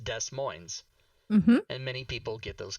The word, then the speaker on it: Des Moines: a city in iowa d-e-s second word m-o-i-n-e-s pronounced des moines and there's a city in washington d-e-s second word m-o-i-n-e-s same thing and that is pronounced des moines and many people get those confused indeed as